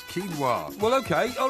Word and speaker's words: quinoa: trying to ask you because it's pronounced quinoa well okay all right